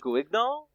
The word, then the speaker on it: Guignol: This genre was known as the Theater du Grand Guignol. Guinal? Okay. Mm-hmm. All right. So for those of us in the audience, that's how it's pronounced in French.